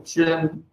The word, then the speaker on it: Qin: And by the way, Qin Dynasty, even though it's spelled with a Q, that's where its name comes from. Qin, China.